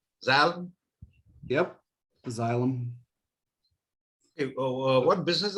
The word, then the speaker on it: Xylem: pronounce that? It's Xylem. Xylem?